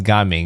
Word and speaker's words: Gaming: I do think it would have been nice if they had something between the Ga and the Ming, and people would probably pronounce them correctly.